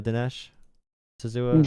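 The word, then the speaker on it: D'Souza: a conservative commentator does anyone know that did Desh sua you say his name that's how you say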